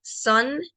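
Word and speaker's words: sun: de sol y hijo sol se pronuncia son y se escribe s u n y la palabra son que es hijo se escribe s o n pero ambas se pronuncian prácticamente iguales son y son notan diferencia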